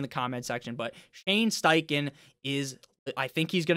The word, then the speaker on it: Steichen: Anthony Richardson again the fact that Stane Shane steiken is there I always say this guy's name wrong and people always fucking Hound me in the comment section but Shane steichen is I think he's going to be legit